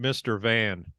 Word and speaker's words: Mrvan: vote for Frank Murphy is it Mervin or mivrant is he like I always when I say those signs I always pronounce it Mr van yeah there you go Mr van uh